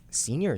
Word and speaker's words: Scenior: I was like, Scenior is spelled wrong. No, it's not. And I was like, oh, it's like scene, like scene kids back in the day.